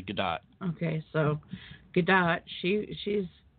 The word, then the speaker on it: Gadot: but a gal gadot it's actually gal gadot good dot believe it or not yet everybody keeps saying Godot and they recently came out and said now you're all saying it wrong it's actually gadot okay so gadot she